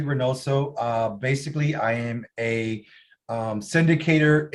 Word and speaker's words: Reinoso: Is it Reinoso? Is that how you pronounce that?